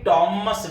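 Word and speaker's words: Thomas: बहुत अच्छे अच्छे टीचर्स मैंने देखे हैं थॉमस ग्रे बोलते हुए, थ का साउंड तो इंग्लिश में है ही नहीं ना, तो आप बोलेंगे टॉमस ग्रे, टी का साउंड है, एच उसमें साइलेंट होता है।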